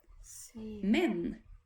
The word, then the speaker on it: men: we cannot come so the Swedish word but is pronounced like this men men can you say that